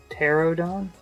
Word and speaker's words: Pterodon: I'm wondering if like a pterodactyl if the P is silent. So, pterodon?